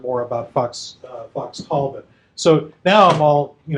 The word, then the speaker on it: Talbot: so this should be and like all english as opposed to american proper nouns the emphasis is not on the second syllable so fox tall bot